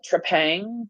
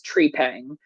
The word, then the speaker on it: Trepang: it's called trepang 2 from how it's spelled you want to call it Trang but I heard the devs say its name and it's tree Pang um which is a